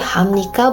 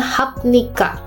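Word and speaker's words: 합니까: Biep nien, jadi hamnika bukan hapnika.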